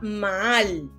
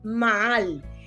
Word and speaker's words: maal: ella es la palabra maal maal asim mismo como mal pero con dos a acento en la última maal y dice que quiere